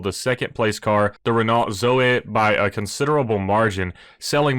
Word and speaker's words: Zoe: I believe it's Zoe, not Zoe. I think the E has a weird pronunciation at the end, but this is actually very popular in the EV market in Europe.